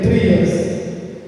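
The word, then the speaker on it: τριάς: sua forma grega trias Essa é a pronúncia grega trias e essa palavra parece ter sido usada justamente no ano 181 depois de.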